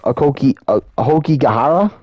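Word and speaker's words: Aokigahara: Like, for example, Logan Paul showed a literal dead body in the, I believe it's pronounced Ahokigahara forest, I think that's how you say it is, aka the suicide forest.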